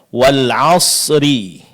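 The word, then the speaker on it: والعصر: Kesalahan yang terjadi adalah sering kita mengabaikan huruf sukun yang kedua, yaitu huruf ra di sini. Wal asri, seharusnya kita baca wal asr. Wal asr. Sering terjadi huruf ra-nya tidak diucapkan dengan jelas, bahkan ada yang tidak diucapkan sama sekali.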